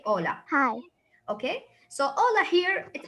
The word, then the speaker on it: hola: because at the beginning we will not pronounce the itch so we say ola okay so ola here